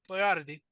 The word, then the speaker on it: Boiardi: He decided to Anglicize the name of his products to Boyardee to help Americans pronounce his name correctly.